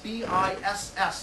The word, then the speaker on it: Biss: My last name is Biss, B-I-S-S, and the second S is silent. Otherwise, it would be Biss, right?